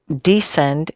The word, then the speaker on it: descend: The opposite of descend is ascend. And notice those are spelt kind of funny because the C is silent.